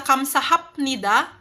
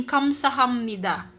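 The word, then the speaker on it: 감사합니다: Imbes na kamsahapnida magiging kamsahamnida.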